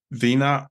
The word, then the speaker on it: Venia: It's by Vena R. It's Venia. The I is silent.